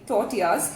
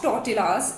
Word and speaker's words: tortillas: These are not tortillas as is the general perception. These are tortillas. The L here is silent.